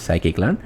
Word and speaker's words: scikit-learn: So in our machine learning models we will use scikit-learn, which is this is how you pronounce, which is scikit-learn.